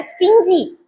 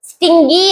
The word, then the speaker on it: stingy: இது எப்படி ப்ரொனவுன்ஸ் பண்ணணும்? ஸ்டிஞ்சி, ஸ்டிஞ்சின்னு ப்ரொனவுன்ஸ் பண்ணணும். Even Google dictionary pronounce it wrongly. இதை தப்பா தான் ப்ரொனவுன்ஸ் பண்ணுது, ஸ்டிங்கி அப்படிங்குது கூகுள் டிக்ஷனரி கூட. அதை ஃபாலோ பண்ணாதீங்க.